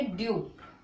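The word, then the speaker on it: due: तो इसको पढ़ेंगे ड्यू। क्या पढ़ेंगे? ड्यू। ठीक है, ड्यू। तो ई को इसको नहीं पढ़ेंगे।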